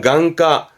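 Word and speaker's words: 眼科: 발음은 강가, 강가에서 음은 강이에요.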